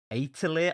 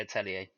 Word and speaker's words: Atelier: standard JRPG series called Atelier. I looked at like 4 different YouTube Atelier. reviews. Is that how you pronounce it? Yeah, it's like a French thing, isn't it?